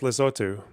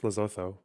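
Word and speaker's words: Lesotho: tariffs and watch the It's pronounced Lazotu. Okay. I'm white. It's Lzotho.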